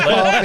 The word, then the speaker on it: Coffey: She's John Coffey. in Like the drink, but not spelled the same.